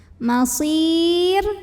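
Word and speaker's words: مصير: Kita lihat kalau ro-nya sukun, lihat huruf sebelumnya. Karena huruf sebelumnya ya sukun, maka otomatis ro-nya tipis. Jadi masir tipis, tidak perlu mengangkat pangkal lidah kita.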